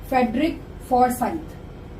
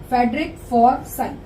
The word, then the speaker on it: Forsyth: अब ये इंग्लैंड के नॉवलिस्ट हैं फेडरिक फॉरसाइथ। इसकी प्रोनाउंसिएशन ऑलरेडी मेंशन कर दिया मैंने हिंदी में, अगर किसी को बोलना नहीं आ रहा तो यहाँ से पढ़ के देख सकता है। फेडरिक फॉरसाइथ, FORSYTH साइथ।